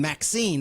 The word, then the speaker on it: Maxxxine: And then Maxine, that's it. And the X, in Maxine, it's triple X, like it's spelled it MAXXXINE, was released on July 5th, 2024.